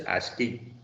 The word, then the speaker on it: ASCII: code for information interchange normally they are pronounced as asking and this ASCII is